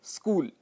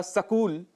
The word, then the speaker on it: स्कूल: उदाहरण के लिए जैसे स्कूल। स्कूल के लिए हम स्कूल या सकूल ऐसा कह देते हैं, जो कि गलत है। शुद्ध उच्चारण स्कूल होता है, यह आप सब जानते हैं।